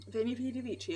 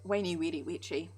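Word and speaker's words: Veni, vidi, vici: Veni Vidi Vici and all that. Or Wainy Weedy Weechy. Depending on whether or not you feel like arguing over Latin pronunciation.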